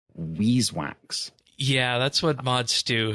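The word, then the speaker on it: Vis wax: introduced to um I I've been advised it's pronounced Weese wax yeah that's what mod stew has put on the record for saying that despite everybody's saying viz for all these years what's dude did explore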